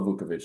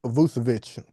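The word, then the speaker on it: Vučević: Nikola Vukovic is mine. Dang. Vucevic, Yeah. You not must Vukovic. Vucevic, yeah, Vucevic.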